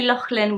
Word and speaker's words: Lachlan: name at Lachlan so I would say Lachlan with a lock like the Scottish Loch Lomond but ignore civvy Lachlan